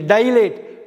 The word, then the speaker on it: dilate: Next நம்ம பார்க்க போகிற தவறாக உச்சரிக்கிற வார்த்தை வந்து DILATE, டைலேட். டைலேஷன் அப்படின்னா எக்ஸ்பேன்ஷன், விரிவுபடுத்துறது, வைடன் பண்ணுறது, அகலப்படுத்துறது. DILATEன்னா டிலேஷன் படிக்கக்கூடாது, டைலேட்னு படிக்கணும்.